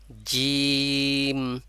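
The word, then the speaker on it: جيم: আপনার উচ্চারণটা আসতেছে যেমন জিম জিম একেবারে অতিরিক্ত শক্ত করা হবে জিম বলা যাবে না জিম বললে হলো দাঁত দুইটা দাঁত একসাথে লেগে যাচ্ছে অথচ জিহ্বা জায়গায় যাচ্ছে না এজন্য জিম দাঁত চেপে বলা যাবে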